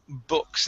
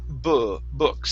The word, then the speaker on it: books: let's go to um books instead of uh found some books with an ooh it's some books some books try that some books some books okay one more time instead